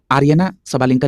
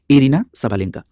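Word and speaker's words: Aryna Sabalenka: यहां पे आर्यना सबालेंका लिखा है, जबकि इनका सही प्रोनाउंसिएशन है एरिना सबालेंका।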